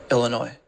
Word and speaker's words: Illinois: Illinois this video we'll look at how to pronounce Chicago and Illinois ill noi Illinois hey there besties we got a talk so